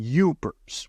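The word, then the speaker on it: Yoopers: And then over time, they call them Yupers, which is spelled Y O O P E R.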